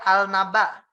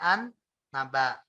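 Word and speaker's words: النبأ: bertemu dengan non contoh tadinya dia al-naba tapi kita bacanya an-naba contoh tadi misalnya eh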